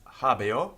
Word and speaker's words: habeo: Although it's spelled H-A-B-E-O, we know from the Roman grammarians that it was pronounced a little bit like habeo with an I, not an E. That's because of the way that the O following the E affects the way it's pronounced.